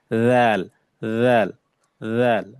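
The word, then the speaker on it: ذال: রাল, রাল, রাল। জিহ্বার আগাটা উপরে যে দুই দাঁত আছে এই দুই দাঁতের সাথে লাগবে। রাল, রাল, রাল।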